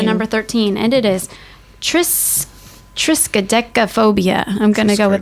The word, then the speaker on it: triskaidekaphobia: fear of the number 13, and it is triskaidekaphobia. I'm going to go with that. Triskaidekaphobia.